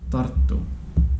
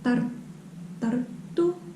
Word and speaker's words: Tartu: Tartu. Yeah, Tartu. Mm. So I received a comment who said that Tartu, this Estonian second biggest city, sounds like it has two T's, so double T. Like Tartu Tartu.